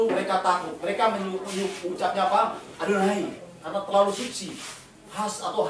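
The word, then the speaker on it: יהוה: YHWH. Bacanya Adonai. Ya, atau Hashem.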